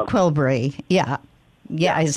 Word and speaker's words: Qelbree: And will you spell that for me, Justin? I want to make sure you've got the right. It's Qelbree. It's relatively new. It's a norepinephrine uptake inhibitor. Right, Qelbree.